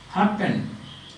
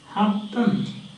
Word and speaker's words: happen: That is pronounced happen. Happen. Happen. Understand that? You can see that. Happen. Happen. Urban. Urban. Urban. And that is urban. Urban. So N becomes M.